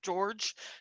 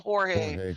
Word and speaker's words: George: George. It was spelled the Spanish way. She called him Jorge. I was like, that's not his name. That's not how it's said on the show.